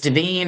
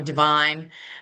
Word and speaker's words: Devine: Is it I don't know if it's Deine or Divine. Um, who has he's appeared in our Zoom. Uh, Mr. Um, could you tell me how to pronounce your name, sir, so I say it correctly? You're muted right now. I'm sorry, ma'am. Good morning. Good morning. I'm Devine.